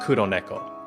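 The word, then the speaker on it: 96猫: So it's like 96 Neko, but it's pronounced Kuro Neko, which is Black Cat.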